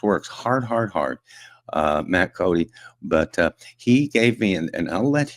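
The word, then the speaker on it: Coday: Oil and gas workers of America and his name is Matt Cody. Uh, it's spelled C O D A Y and it's pronounced Cody.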